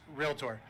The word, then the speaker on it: Realtor: And despite how some bad pronunciators might argue with this, there is no I in Realtor. It's Realtor.